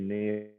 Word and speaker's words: Niall: We'd say, no, it's actually Neil. It's like it's spelt Niall.